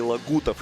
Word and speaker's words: Лагутов: Зоя Пестова, Сергей Лагутов. Именно так нужно произносить эту фамилию.